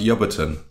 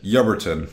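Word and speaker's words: Ebrington: correctly you are however you wouldn't be able to tell that by reading it because it's a town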